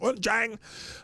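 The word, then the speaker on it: Wuchang: No, that's how it's pronounced. Wunchang.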